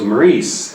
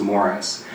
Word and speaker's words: Maurice: on my family tree I assumed it was Maurice and I kept saying that my mother find correctly she's like I think it's pronounced Morris and then it dawned on